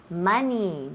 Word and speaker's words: money: Igual cuando decimos money, dinero, nunca decimos money, no, otra vez típico el Spanish, no queremos esa pronunciación.